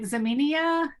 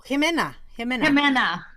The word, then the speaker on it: Jimena: And a shout out, and I'm not going to say her name right, Zaminia, is that how you say her name? Oh, Jimena.